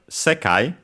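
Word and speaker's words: 世界: Then we have sekai. Sekai means word. We quickly check its accent, but it should be on the se, if I recall correctly. Let's see. Yes, it's on se.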